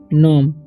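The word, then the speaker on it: numb: उच्चारण नहीं होगा और इसमें बी का उच्चारण नहीं होगा इसे पढ़ेंगे नम जी का उचार नहीं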